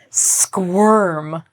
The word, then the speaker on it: squirm: Squirm. It rhymes with the word worm. Squirm, worm.